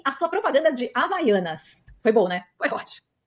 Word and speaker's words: Havaianas: no meio da propaganda ela não soube pronunciar a marca Havaianas ela falou Rina Rana tudo menos havaiana então eu quero saber